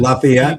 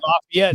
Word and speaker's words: Lafayette: Curds, John Lawrence, Hercules, and Marcus Marquis de D I don't want to pronounce it. Lafayette. Lafayette.